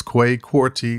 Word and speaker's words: Kwei Quartey: go is go to the website and that's quay quarty dot com and i'll spell that out for you k w e i